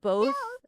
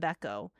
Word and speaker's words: Beko: Um, so basically my my name I accept both I I do accept both um uh uh uh uh pronunciations. I accept Bo and Beco, but you guys are used to calling me Beco because um I'm I'm